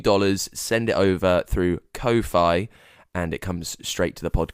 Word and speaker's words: Ko-fi: I think it's Ko-Fi. Because the game with it is, well, you can buy me a coffee, but it's spelled Ko-Fi, which is a play on lo-fi, so it's kind of